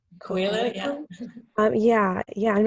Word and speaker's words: Coelho: I don't know how to pronounce his last name. Coelho, yeah.